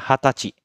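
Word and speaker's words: はたち: Dia nggak pakai kata sai ya. Dia makanya hatachi. Dibacanya hatachi.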